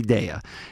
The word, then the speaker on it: Daiya: day and of course you said it's happy dea it's have a happy de at day of foods and so um but how